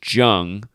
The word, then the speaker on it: Jung: I wasn't sure if it was Jung or Young. I couldn't remember, but it's based on the biography that I watched. It's George Jung, But I just gotta